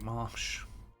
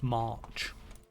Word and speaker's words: White March: It could be anywhere in the White Marsh. I keep saying marsh, and it's March. I have to overpronounce my R's so that I can get into this ch. The White March.